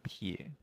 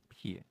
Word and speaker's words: 撇: 这个字怎么念呢？撇。P-E-A，然后三声撇。